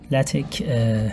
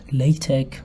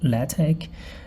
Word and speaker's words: LaTeX: LaTeX is pronounced LaTeX or LaTeX, definitely not LaTeX, and it is a document preparation system for high quality publishing material.